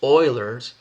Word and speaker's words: Euler: u l e r euler but it's actually pronounced euler's it's euler's formula and euler's formula tells us